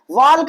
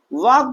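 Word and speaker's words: walk: वाल्क पढ़ रहे हैं क्या, नहीं, वाल्क नहीं पढ़ रहे हैं, बल्कि हम क्या कर रहे हैं, वॉक पढ़ रहे हैं। हम यल को क्या कर दे रहे हैं भैया, साइलेंट कर दे रहे हैं।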